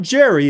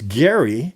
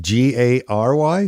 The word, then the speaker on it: Gerry: Oh, he was It's not Jerry, it's Gary. Is it G A R Y?